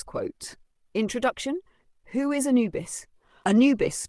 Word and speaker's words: Anubis: Anubis, pronounced Anubis, is one of the most ancient Egyptian gods, predating even the rise of Osiris worship.